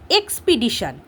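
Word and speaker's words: expedition: যেমন এক্সপিডিশন এক্সপিডিশন আমরা হয়তো মনে হচ্ছে যে আমি একবারই উচ্চারণ করলাম কিন্তু দেখো আমরা যখন উচ্চারণ করি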